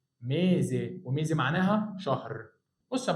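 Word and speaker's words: mese: ينفع انطقها بصوت الاس؟ لا، عشان جاي قبلها متحرك وبعدها متحرك يبقى بصوت الزين، يبقى اسمها ميزي، وميزي معناها شهر.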